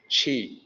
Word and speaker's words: Qi: The pinyin system, when starting with the Q, the pronunciation is CH.